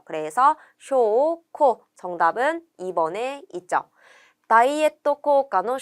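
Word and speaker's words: 証拠: 이때 증은 쇼라고 장음으로 읽었고 거는 코라고 읽는 것을 체크해 주세요. 그래서 쇼, 코 정답은 2번에 있죠.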